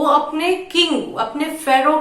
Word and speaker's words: pharaoh: Ferro. Listen to the pronunciation correctly and ट्राई to pronunciate it. Ferro.